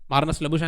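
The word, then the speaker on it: Marnus Labuschagne: मार्नस लबुशन है उसका नाम, मुझे बोलना आता है।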